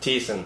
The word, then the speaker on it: Thiessen: Thiessen.